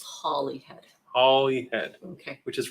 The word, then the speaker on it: Holyhead: did and oh here we go holyhead is pronounced Holly Holly head yeah okay we'll never get that wrong from this point on yeah yeah okay we can't guarantee that but it's Holly head holyhead okay which is right across from I